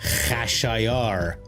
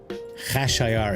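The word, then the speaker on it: Khashayar: D screaming mine goblins, Xerxes and Farsy is Kashayar, you guys. Hashayar is how you say Xeris in Farsy.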